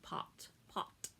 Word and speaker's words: pat: mostly sound the same except a which sounds like an ah sound so if i was talking about pat like patting on a shoulder i would say pot pot um long vowels have